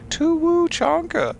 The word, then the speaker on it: Tuchanka: grab that uh zero gotta say it right to Wu chanka how dare you how dare you put an ooh into my planet names to trick me I